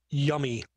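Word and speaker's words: YUMI: And what this tool is that they're talking about, Yummy. Y-U-M-I is how they spell it.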